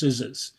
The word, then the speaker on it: SZA: lot um and also I discovered that um sza is actually pronounced sczs um this is why people don't bring me